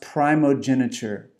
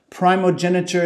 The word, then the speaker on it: primogeniture: I was not very familiar with this word, and I believe it's pronounced primogeniture.